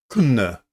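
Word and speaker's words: Köln: Okay, so we have uh the cruiser Kuna Cologne if you want to pronounce it properly.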